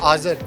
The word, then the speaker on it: Azer: आज़र।